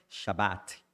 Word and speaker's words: Shabat: Aí eu confirmei, ele falou que é Shabat. E tem o T no final pronunciado.